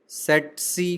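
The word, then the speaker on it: tsetse: सेट्सी फ्लाई, पहला T silent रहेगा, सेट्सी फ्लाई।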